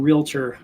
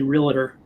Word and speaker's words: realtor: First of all, Sid, thanks for pronouncing realtor correctly. I hear a lot of people say realtor. There's no I in realtor.